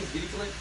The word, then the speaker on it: Dirichlet: Eventually, around 1838, how do you pronounce this guy's name? Dirichlet.